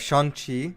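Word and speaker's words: Shang-Chi: is going to go but next we have shang chi which i just realized that's how you pronounce it from kevin feige thank you and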